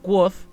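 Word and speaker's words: Kvothe: el nombre del viento el autor escribe escribe como se escribiría el nombre de quot pero entre paréntesis de pronto dice se pronuncia voz básica se escribiría que se escribía kopté pero se pronuncia quot y lo bueno es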